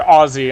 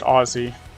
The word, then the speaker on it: Aussie: Or Aussie, I'm sorry, it's pronounced Aussie.